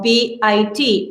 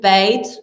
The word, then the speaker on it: Beit: fine if you tell b i t that's fine uh we usually call it bait and this comes from jewish meaning home but if you um